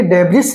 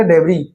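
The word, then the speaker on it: debris: ऐसे ही आई के बाद मैंने बताया तो ये डेबिस नहीं है। ये क्या बोला जाएगा? डेबरी।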